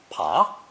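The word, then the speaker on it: 扒: radical on the left it's pronounced either second tone pa pa or first tone depending on the meaning for this reason it's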